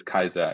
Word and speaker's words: Caesar: the other one is Julius Caesar or Julius Kaiser, if you want to, have the correct pronunciation.